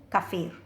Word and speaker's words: kaffir: pronounced kafer or kafer the actual pronunciation is kaffir because it is an arabic word now based on the